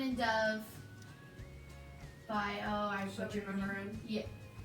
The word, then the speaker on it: Mahurin: The book is Serpent and Dove by, I Shelby Mahurin. Yeah. Say your last name again? Mahurin. Mahurin? She has it on her bio. Oh, How to pronounce it.